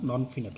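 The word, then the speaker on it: non-finite: একই বানান, তবে এখানে উচ্চারণটা এখানে ফাইনাইট হবে না, নন ফিনাইট হবে, আর এখানে হবে ফাইনাইট।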